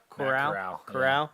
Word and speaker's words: Corral: Corral.